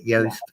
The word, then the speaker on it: Yost: you look at like Fred Yost or Yost, however it's pronounced, Yost, Y-O-S-T, Nick Saban, Jimbo Fisher.